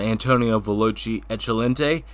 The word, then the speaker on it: Antonio Veloce Eccellente: Antonio Veloce Eccellente. I am pronouncing that right, aren't I?